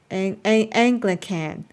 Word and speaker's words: Anglican: sounds like Angry can't but replace the r with an L okay so Anglican okay I'll try to